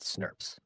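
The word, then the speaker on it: snRNP: The splyosome itself is a large complex made up of small nuclear ribboucle proteins, SNRPs, pronounced snurps.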